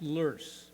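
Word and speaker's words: loess: It's actually pronounced lur, but I'm not I'm going to call it lust because that's what people call it.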